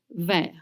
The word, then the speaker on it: vert: And again, sauce poivre vert, you don't pronounce the T at the end of vert.